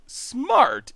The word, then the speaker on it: SMRT: It's still pronounced smart, even though the A is missing.